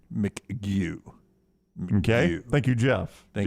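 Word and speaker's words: McGough: spells it the same he says he pronounces his mcgew mcgu okay thank you jeff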